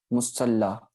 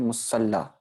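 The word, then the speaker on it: ਮੁਸਲਾ: ठीक है, सर के ऊपर प्रेशर आ गया, मीन्स के सर से पहले हमने अदक उच्चारण की। ठीक है, हम इसको मुसल्ला नहीं पढ़ते। जब भी ये शब्द इस्तेमाल होता है तब हम इसे क्या पढ़ते हैं, मुसल्ला।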